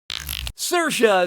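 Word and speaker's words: Saoirse: Cersa says that's the correct way to say her name.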